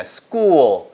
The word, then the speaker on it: school: 발음이 스쿨 절대 아니에요. 스쿨처럼 들려요. School. 아시겠죠? 그러니까 S 다음에 크 발음이니까 끝처럼 나겠죠? School.